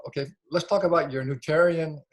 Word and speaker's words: Nutritarian: Okay, let's talk about your nutritarian.